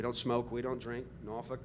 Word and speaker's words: Norfolk: Norfolk, Norfolk. That's the cheer. Okay. That'll help you remember how to pronounce it next time you're somewhere flying in our region.